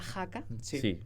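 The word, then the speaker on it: haka: Y bueno, cantó y bailó porque eh la danza de la jaca, ¿os acordáis, verdad? Que por cierto se escribe h a k a pero se dice ja.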